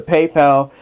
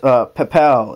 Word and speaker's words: Papel: It's a PayPal, or not PayPal. It's Papel. It's spelled P-A-P-E-L. Think of it as paper, but replace the R with the L.